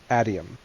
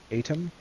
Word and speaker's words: atium: and about religion and about Kelsier with the Atium. Atom? Is that pronounced?